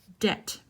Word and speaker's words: debt: lot of debt remember this is a silent B debt debt if you have